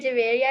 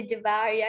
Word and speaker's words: जवेरिया: उसका असल नाम जवेरिया जवारिया नहीं है।